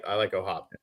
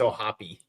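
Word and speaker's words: O'Hoppe: Yeah, I like O'Hop. Is that how you say it? No, it's O'Hoppy. O'Hoppy, okay. At least that's what my dad says.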